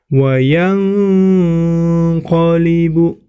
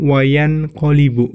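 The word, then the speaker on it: وَيَنقَلِبُ: Di situ dilihat yang warna biru, nun sukun bertemu dengan huruf qaf, maka itu termasuk hukum bacaan ikhfa. Maka cara membacanya nun sukunnya dibaca samar, kemudian mendengung, ya. Wayang qalibu, ya. Jangan wayan qalibu, ya. Salah.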